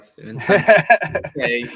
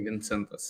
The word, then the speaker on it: Vincentas: Vincentas. Usually Vincentas in Lithuania. I was gonna go, so I was like, should I go with the Vincent, like the easy English cop out, or should I try?